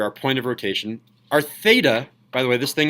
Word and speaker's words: theta: point of rotation our theta by the way this thing is called a fatalist right off to the side in case you don't know if this is Theta is pronounced theta with a th theta can we all